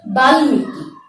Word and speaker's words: বাল্মীকি: যেমন ল, গ, ন, ট, ঙ ইত্যাদি বর্ণের সাথে মফলার ব্যবহার হলে মফলার উচ্চারণ হয়ে থাকে। যেমন আমি শব্দটি লিখে দেখাচ্ছি। উচ্চারণটি কি হবে? বাল্মীকি।